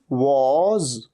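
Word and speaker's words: was: पहली बात तो वा नहीं, Waugh. He वॉज, ही वॉज going there, वॉज।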